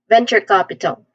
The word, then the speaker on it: venture capital: So venture capital pronunciation wise first syllable ven there's a short e a vowel sound here this part has the first stress and then we say chure with a ch sound in the beginning just like church you just say chure